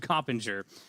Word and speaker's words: Coppinger: Okay, so we got Anthony Johns, Antonio Gaines, and Liam Coppinger. I knew I was going to say it wrong. Liam Coppinger here with us today.